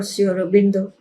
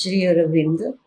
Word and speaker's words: Sri Aurobindo: Now I was thinking how I would look for Sri Aurobindo.